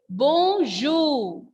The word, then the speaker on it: bonjour: R, this word is ending with R, and R is a consonant letter. That is why here R is silent. And the sound and pronunciation of this word is bonjour.